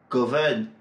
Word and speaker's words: govern: À chaque fois, l'accent est placé sur la première syllabe.